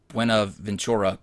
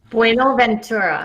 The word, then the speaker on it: Buenaventura: Buenaventura. You know, it's such a sexy language, and I'm over here. I'm uncultured hicking it. You have to learn to roll your R's.